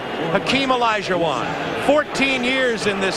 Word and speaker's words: Hakeem: welcome please for nba commissioner david stern commissioner hakeem as i've been told to pronounce it tonight i'm here representing millions and